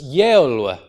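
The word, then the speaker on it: geolu: have this word and this initial sound is pronounced a year so it's yella yella and that becomes modern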